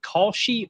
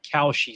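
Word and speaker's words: Kalshi: I won't put it on the screen, but uh how do you say is it Koshi or Koshi Sports? The new gambling service. K A L S H I. How would you I've heard Koshi?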